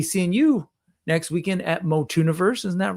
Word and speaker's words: Motuniverse: Motuniverse, um, which is pronounced like tuni, like uni, not like tuna, because I know Mikey